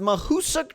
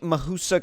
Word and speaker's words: Mahoosuc: about this is basically I think it's pronounced Mahoosuc trails I think Mahoosuc is how you how you how you pronounce that but I may be butchering that name so don't quote me on that and we're gonna